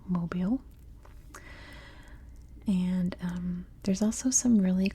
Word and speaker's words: Mobile: of mobile down here and yes it is pronounced mobile and there's also some really cool Islands down